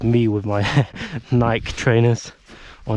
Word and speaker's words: Nike: for snow probably, not like me with my Nike trainers or Nik-ee as some of you may pronounce it my worst fear right now is